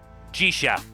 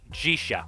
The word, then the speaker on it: Zisye: Jisha. That's how it's apparently pronounced in Japanese. Jisha.